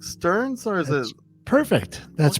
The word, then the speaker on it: Stearns: his name is Stearns is that correct Stearns or is it perfect that's perfect I love